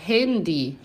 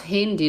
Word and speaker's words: Handy: daquele em alemão e fica a pronúncia também meio parecida com o inglês.